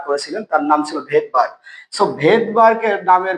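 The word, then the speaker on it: Svedberg: ভেদবারকের নামের বানানটা দেখি তাহলে এসভিডি বি আর এই ভেদবার যদিও উচ্চারণটা কিন্তু এস হয় না।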